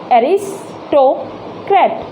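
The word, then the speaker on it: aristocrat: आकर डॉट, ट कैट, आर क्या हुआ, साइलेंट हुआ यहाँ पर, एरिस्टोक्रेट। तो अब देखिए यहाँ ये अ है जो, इसके ऊपर ही हमारा क्या हो जाएगा, स्ट्रेस लग जाएगा।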